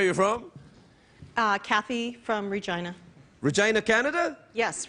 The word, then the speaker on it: Regina: And what everybody in Reginaina likes to say is the city that rhymes with fun.